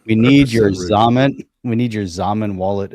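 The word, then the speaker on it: Xaman: Zaman rhymes with ramen. Rhymes with Joey. ramen. Joey Because rhymes with Zum Joey. wasn't good. Remember it was Zum? Zum was a hard one. Zamen's better. I like Zaman better, but Zum was good.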